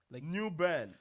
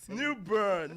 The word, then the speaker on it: New Bern: New burn. Yes. So, what's the What's the correct pronunciation It's It's newborn. Uh like like you're saying earn like u r n, but it's newborn.